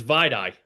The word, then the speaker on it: Vai Dai: It's Vide.